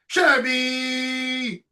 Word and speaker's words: Scheibe: Put your hands together to George Scheibe, which I think Thanks is for having me Scheibe. on. Good to be back. George Scheibe, yeah. Scheibe, yeah.